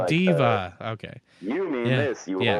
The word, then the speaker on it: D.Va: Because I was playing Overwatch the other day and I'm like, yeah, I'm gonna be DVA, and they're like, who? And they're like, oh, Diva.